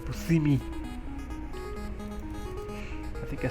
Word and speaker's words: Buscemi: Somebody said that you're not supposed to pronounce Steve Buscemi like that. You're supposed to say Buscemi.